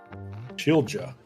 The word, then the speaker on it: Schilja: It's Schilja. Shila. All right. Shila. Yeah, they'll that'll take me about a month to get, but we will get there.